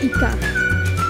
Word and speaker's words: ICA: Bacanya bukan ICA ya, tapi ICA.